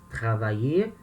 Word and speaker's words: travailler: Quando o verbo termina em ER, a pronúncia do verbo no infinitivo e do verbo no particípio é a mesma, tá? Travailler, infinitivo, trabalhar.